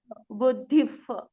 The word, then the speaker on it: बुद्धिः: वो विसर्गा का प्रोनाउंसिएशन कैसा होगा? विसर्ग के बाद नहीं, विसर्गा के बाद कौन सा शब्द आ रहा है? प. तो प होगा तो कैसा होगा विसर्ग? बुद्धिफ.